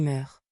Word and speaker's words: meurent: Au présent, avec elles, on écrit meurent. La phrase correcte est donc les fleurs meurent sans eau. Attention, le ent final ne se prononce pas.